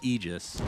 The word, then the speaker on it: Aegis: that's really important center the pronunciation of ages it's actually aegis right right like literally